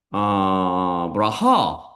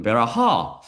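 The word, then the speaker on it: ברכה: 하나님께서는 아브라함에게 나타나서 그를 아예 브라하 또는 베라하. 우리 선생님한테 내가 브라하라고 배웠거든요. 근데 랍비가 하는 거 보니까 베라하라고 발음하더라고요.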